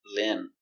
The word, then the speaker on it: limb: very good example limb remember no be limb a limb is a branch a limb on a tree the tree has many Limbs and sometimes we can use limb to talk about an arm or a leg if you lose a limb Lim I I short sound i l limb one